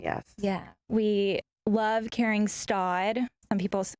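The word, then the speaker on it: Staud: We love carrying Stod. Some people pronounce it Stoud.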